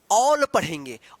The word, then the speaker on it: all: कहने का मतलब है कि ए के बाद अगर एल रहता है या डबल एल रहता है तो उसका उच्चारण यानी ए का उच्चारण औ होगा। जैसे यहां पे देखिए आप ए डबल एल, तो देखिए ए के बाद क्या है? डबल एल है, तो इस ए का क्या उच्चारण हुआ है? औ। और डबल एल का ल, तो क्या पढ़ेंगे इसको? ऑल पढ़ेंगे।